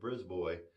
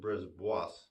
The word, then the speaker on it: Brisbois: It looks like you might pronounce it Brisbois, but no, Brisboy.